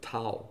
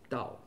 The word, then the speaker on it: Dao: Früher Tao geschrieben, aber ausgesprochen Dao.